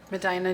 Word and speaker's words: Medina: Medina, New York.